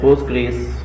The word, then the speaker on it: Postgres: Postgres which is pronounced as Postgres is the advanced enterprise class open source RDBMS.